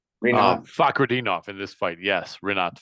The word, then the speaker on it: Fakhretdinov: That's a tough fight because I don't know how you say his name, Rinat Fakhretdinov in this fight. Yes, Rinat Fakhretdinov.